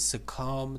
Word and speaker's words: succumb: from surround it means succumb to succ uh s u CC o m b b is not pronounced uh it means that